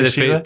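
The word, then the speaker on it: Fèis Ìle: Do they have any kind of idea or metric on how many people visit during the Fishila festival? Am I pronouncing that right? Yeah, Fishila. Fishila.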